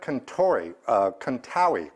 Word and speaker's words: Contawi: This comes to me from Fred Contawi, rhymes with Maui.